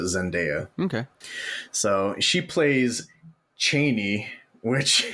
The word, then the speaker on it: Chani: So she plays Cheney, which it looks like Chani, but it's pronounced Cheney.